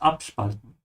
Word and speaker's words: abspalten: This is a separable verb, so make sure to say ab emphasized, abspalten.